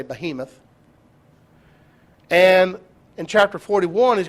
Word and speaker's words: behemoth: two creatures one is called the behemoth or beimeth depending on how you pronounce that i say behemoth and in chapter 41